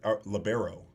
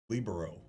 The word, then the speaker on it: libero: in volleyball is people we we labbero libero. What what is the connect correct pronunciation? I say libero. Lobero. Labbero sounds better. Almost 90% of people that play volleyball say libero.